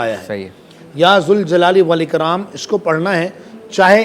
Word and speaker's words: ذوالجلال والاکرام: تو صوفیہ فرماتے ہیں کہ تلفظ کے اعتبار سے دیکھا جائے, عربی لغت کے اعتبار سے دیکھا جائے تو یہ پڑھا جائے گا یا ذوالجلال والاکرام.